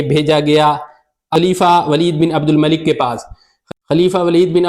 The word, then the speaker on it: عبد الملک: ساتھ بھی صحابہ تھے۔ عبد الملک بن مروان کو کہہ رہے ہیں عبد المالک بن مروان، تو ان کے تلفظ کی تو یہ حالت ہے۔ اچھا، یہ دوسرا جھوٹ